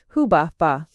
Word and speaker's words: Hubaba: Though in the latter case, as we may now conclude from the Yale tablet, the name should rather be read hubba.